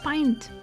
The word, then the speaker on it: pint: The I in "int" is said like the pronoun I. Pint. Oh, pint.